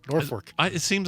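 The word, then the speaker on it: Norfolk: norfol is just uh Norfork which is just it's just horrendous it's really bad especially the fact that it's spelled with an L but pronounced with an R Norfork I it seems like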